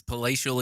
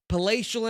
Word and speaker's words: Palatial: It's Palatial Entertainment. Pacial Entertainment. Gonna forget it.